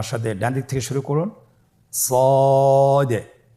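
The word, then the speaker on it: ص: মোটা হরফ উচ্চারণ ক্ষেত্রে মোটা করে পড়তে হবে এবং উচ্চারণ করার সময় তিন আলিফ টেনে পড়তে হবে। আপনারা আমার সাথে বলুন সদ আবার বলুন সদ আলহামদুলিল্লাহ।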